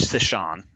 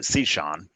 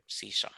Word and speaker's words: Cichon: Sometimes Cichon. I've heard him pronounce it 2 different ways. We actually pronounce it Cichon. Cichon. Okay. But it's just the way. Cichon, it's just that breathy, gravelly sort of way.